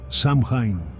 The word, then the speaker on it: Samhain: Todavía hay quienes recuerdan el verdadero nombre de la festividad y lo pronuncian en voz baja, Samin.